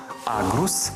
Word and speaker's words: аґрус: звуком Ґ назву найуживаніші запам'ятайте їх гава грунт агрус ґнок ґдзик ґгнути грати гуля і Дзига але